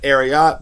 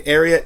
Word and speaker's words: Ariat: some people pronounce it ariat but it's definitely ariat as in secretariat the horse and this brand is